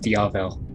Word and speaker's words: Diavel: first little team-up mission they went on is pronounced diavel oh that but obviously my co-host knows what